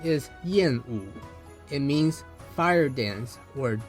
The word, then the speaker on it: Yàn Wǔ: native speaker who is able to not only pronounce his name, but to tell us what it actually means. His name is Yenu.